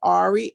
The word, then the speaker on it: Arrie: Again, it's Ari, A is an apple, RRIE, kind of spelled like India Irie, but Mm-hmm. with two R's.